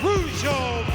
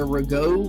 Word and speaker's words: Rougeau: In the ring to my right, from Montreal, Quebec, Canada, at a total combined weight of 472 pounds, Chuck and Raymond, the Rougeau brothers.